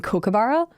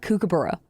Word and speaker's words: kookaburra: I was like physically upset with how they were pronouncing Kookaburra. If you're American, it's not Kookaburra. I can tell you that much for free. It's Kookaburra.